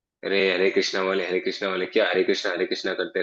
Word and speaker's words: हरे कृष्णा: China वाले जो हैं वो हरे कृष्णा भी नहीं बोल पाते हैं, वो हले कृष्णा बोलते हैं।